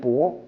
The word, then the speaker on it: 帛: 那么帛和布在古发音中近似，可以通假。